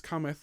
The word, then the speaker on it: cometh: Now from there we sing whence cometh, whence cometh, whence cometh help. And before we sing this, I would just like you to be really, really careful that you don't accidentally emphasize the last syllable of cometh.